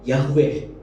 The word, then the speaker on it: Yahweh: Sebetulnya sebuah kata yang tidak bisa diucapkan karena nggak ada huruf hidupnya, huruf mati semua. Dan karena memang harusnya kata itu nggak bisa diucapkan, tapi kita sering menyebutnya dengan kata Yahweh, YHWH.